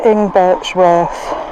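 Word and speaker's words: Ingbirchworth: then before long left into ing Borth which is pronounced like that apparently h we don't get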